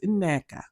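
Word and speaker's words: Nneka: um Wendy's like oh you guys keep calling her NECA her name is NECA which is true with two NS you pronounce them that's the one thing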